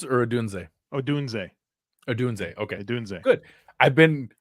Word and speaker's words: Odunze: Is it Oduns or Adunze? Odunze. Okay. Odunze. Good. I've been purely by random accident pronouncing it correctly.